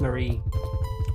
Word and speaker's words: Mary: a marie which is spelled mary but it's actually pronounced marie for some reason wow you really came